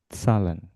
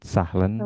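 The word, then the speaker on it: zahlen: c salah ya ister salen Hm. Itu saling ya. Sal ha di tengah kata tidak dibaca salen ya bukan sahlen. Salen salen.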